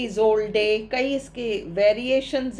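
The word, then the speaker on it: Isolde: The love of ट्रिस्ट्रान एंड इजौडे, actually इजोल्डे, कई इसके variations हैं नाम के, स्पेलिंग्स में भी वेरिएशंस है अलग अलग जगह।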